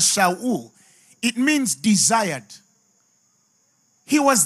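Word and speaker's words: שאול: The Hebrew word for Saul, the Hebrew pronounce him as Shaul, it means desired.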